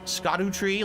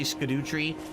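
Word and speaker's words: Scadutree: to figure this out by the way it's pronounced scoto tree like Shadow tree SC tree that's how you're supposed to say it but I say scoo tree just because I think it's stupid I agree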